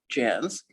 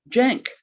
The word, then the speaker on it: Janc: j-a-n-c so although it was supposed to be pronounced jazz it was mostly mispronounced jank after he died and went to what i